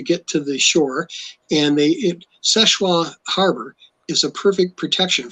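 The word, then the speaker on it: Seul Choix: It's spelled, if you look it up, Soelchoix, but it's French, so it's pronounced Seshwa.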